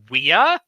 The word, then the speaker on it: via: want to be correct the correct Latin pronunciation is weeow like a caste it translates to the